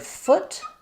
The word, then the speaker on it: foot: Even though these are both spelled with letters O, the word foot has the uh vowel. I call that the good book vowel.